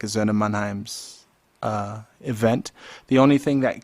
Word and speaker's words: Söhne Mannheims: Okay, how do you pronounce it? Söhne Mannheims.